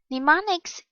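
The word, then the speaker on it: mnemonics: make memor memorization easier pneumonics the initial m is silent are clues of any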